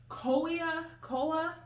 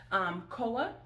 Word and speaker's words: Koia: Today you are in for a treat because we are reviewing a beverage called, now I don't want to pronounce it incorrectly, Koia, K-O-I-A.